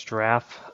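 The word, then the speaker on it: Jirav: predominant uh forecasting solution is giraffe um sounds like the animals spelled with a j j i r a v um is a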